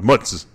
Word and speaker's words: mozzarella: But it's gabiche, just like it's not mozzarella. It's not mozzarella. Or mozzarella or whatever these people say. It's mozzarella or mutz.